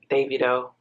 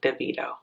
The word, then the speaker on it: Davido: I didn't find them most people don't know how to pronounce Davido name who is deito I'm sorry I'm sorry on behalf of all the Americans that pronounce your name incorrectly David it is Davido not deito okay moving along get